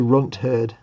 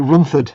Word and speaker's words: Runt Herd: The one you couldn't pronounce was the Runt Herd. Oh, was it? What did I call it? You were like Runthard or something.